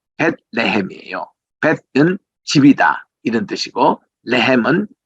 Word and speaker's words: 베들레헴: 우리 지난번에도 우리 베들레헴 공부할 때도 보면은 우리 베들레헴 이렇게 우리가 그냥 영어식으로 읽으니까 이게 어감이 좋지 않습니다만은 유대인들은 벳레헴이에요.